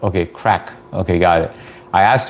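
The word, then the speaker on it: craic: It's pronounced like crack though. Okay, crack.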